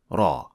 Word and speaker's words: ر: and learning Raw first raw does not involve any lip movement so shaping your lips as o when pronouncing raw is wrong because it adds a hint of Lum that should not be there second some call or